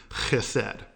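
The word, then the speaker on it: חסד: Now that word is actually a Hebrew word, chesed. And remember, if you're pronouncing that well, you're spitting everywhere.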